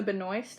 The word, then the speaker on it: Benoist: So, next one is the New York State of Mind cover by Melissa Benoist, I think is how you say her last name, and Leah Michele.